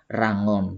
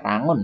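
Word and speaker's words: Yangon: tentu adalah ya yang on bacanya Ranggon bukan bukan ular rahon ya bukannya Irwan ular ya ini Raya on tetapi bacanya Ranggon ya bahasa resmi ini adalah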